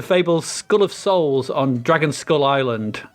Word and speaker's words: Dragonskulle: section is dragon skull dragon skull spelt with an e dragon scully so not to be confused with mulder and scully uh dragon skull so this is the